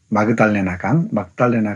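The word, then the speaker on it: Magdalena: 예, 막달레나 강이라고 발음하기도 합니다.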